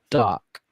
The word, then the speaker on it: DARQ: There's a game called Dark. I'm presuming that's how it's pronounced, DARQ.